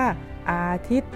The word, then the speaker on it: อาทิตย์: ยอ ยักษ์ นะ คะ เวลา เรา อ่าน ออก เสียง เรา จะ อ่าน แค่ ว่า อาทิตย์ ตัว ย่อ เรา จะ ไม่ อ่าน ออก เสียง เนื่อง มา จาก ว่า มี ไม้ ทัณฑฆาต กำกับ อยู่ นั่น เอง นะ คะ เต็ม